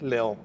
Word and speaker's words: León: Eh, porque probes de origen francés tiene otra pronunciación. Nos resolvieron el drama. Es es León.